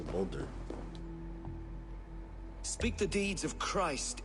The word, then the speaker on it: Baldur: Baldur. Is that how they say it, Baldur? I thought it was Boulder.